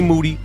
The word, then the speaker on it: Moody: in here with G moody whose last name rhymes with duty and today we have